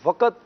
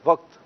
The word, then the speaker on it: وقت: پڑا گیا وقت۔ جی، تو وقت یہ غلط ہے، درست تلفظ ہے وقت۔ وقت، قاف کو ساکن پڑھنا ہے، قاف پہ جزم ہے، اس پر زبر نہیں پڑھنا۔ اور کئی ایسے اسلامی